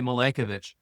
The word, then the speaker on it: Milankovitch: It was you can say his name a lot of different ways. I say Milankovitch.